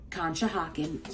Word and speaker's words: Conshohocken: And Conshohocken, yes, that's how you say it, has a lot of different office parks.